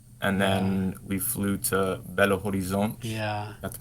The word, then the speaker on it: Belo Horizonte: Yeah, so we flew to Sao Paulo, and then we flew to Belo Horizonte. Yeah. Got the pronunciation Guys right.